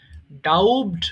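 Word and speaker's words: doubt: সন্দেহ করা এখানে আর বি এর উচ্চারণ হবে না ডাউটড বলা যাবে না এটা হবে ডাউট সন্দেহ করা ডাউট ডাউট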